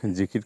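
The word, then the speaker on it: ذكر: হবে আল্লাহ তাালার সাথে জিকির মগলে থাকতে হবে এটা হচ্ছে জিকির আরবি শব্দ এর মূল উচ্চারণ হল জিকর বাংলা উচ্চারণের জেকের জিকির ও জিকির প্রচলিত এর অর্থ হলো স্মরণ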